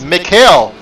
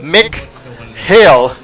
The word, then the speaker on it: Mikhail: It's Mikhail, or rather Mick Hale. But what I was doing, of course, saying it very quickly, I'll just end up with Mikhail, which still sounds the same as what I was saying last weekend.